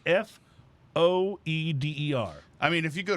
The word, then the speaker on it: foeder: The world is full of strange mysteries, and we'll explore more of them, including some either Foeder or Feeder-Aged rice lager. OnStark says pronounced Foeder.